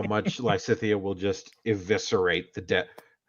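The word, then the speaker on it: Lysithea: Yeah, Lycithia.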